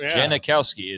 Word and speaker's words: Janikowski: Janikowski is spelled out exactly the way you pronounce it.